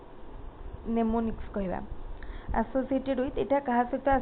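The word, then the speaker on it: mnemonics: करि परिबे the term मेनेमोनिक्स is associated with it एम टा एक्चुअली कौन अच्छी माने हमर एटी एम टा ताको माने साइलेंट रहइबो नेमोनिक्स कहबा एसोसिएटेड विथ एटा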